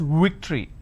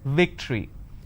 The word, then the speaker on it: victory: They pronounce this as victory. Now remember what I said. If you have the letter V, you need to bite your lower lip. It's victory.